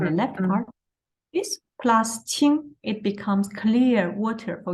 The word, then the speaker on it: 清: The whole part, the pronunciation is 清. The first tone, 清.